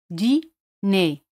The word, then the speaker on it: dîner: Dîner. Dîner. R juntos se pronuncian como E española. Dîner. R no se pronuncia.